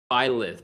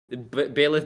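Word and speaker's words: Byleth: Ripon are Pac-Man and violith violet having a bit of trouble pronouncing that as um I have a habit of pronouncing it like bailiff Bayless Violet tomato tomato whatever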